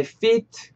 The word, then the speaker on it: feet: 왜냐하면 짧게 하면 fit. 말 그대로 그, 뭐, 맞다. 옷 따위가 몸에 맞다는 fit. 우리의 피트감이라는 그 fit. 그 로마로 느낄 수가 있으니까 fit. 조금 더 길게 발음해 주셨으면 좋겠어요.